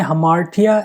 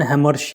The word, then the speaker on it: hamartia: Next question, who define हमार्टिया as tragic flaw? The pronunciation of this word is हमार्टिया rather than Hammersh.